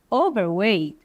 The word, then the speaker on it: overweight: Overweight, esse Tzinho aqui, gente, quase ele não é pronunciado. Em alguns lugares as pessoas também não pronunciam mesmo, tá bom? Então, overweight, ok? Bem fraquinho esse T.